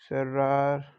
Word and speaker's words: cerrar: Like in English, if I tell you, uh, C pronounces in two ways. Like it depends on situations. If there is a word in Spanish like cerrar. Cerrar is to shut or to close, right? So it pronounces like this: cerrar, cerrar, se.